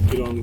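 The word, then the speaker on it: Gyirong: है किंग जिरांग या किरांग जो भी है प्रोनाउंस करते हैं ये लोग किरोंग यस तो हमारे गाइड साहब बता रहे हैं हम किंग की तरफ चल रहे हैं।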